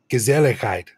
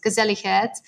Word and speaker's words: gezelligheid: And it is, I'm going to try and pronounce it. It's gezelligheid.